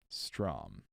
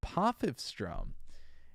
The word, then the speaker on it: Potchefstroom: Potchefstroom. Stroom? Potchefstroom. Okay, dude, how do you say that? Oh, pronunciation key.